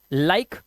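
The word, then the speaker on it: like: अब यहां पर ई जो है लास्ट में है तो इसे पढ़ते हैं बाइक, हमारा ये साइलेंट होगा, ठीक है। इसी तरह से लाइक, नेम, चेंज।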